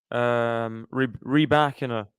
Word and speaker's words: Rybakina: Jelena Rybakina. That's how you pronounce it.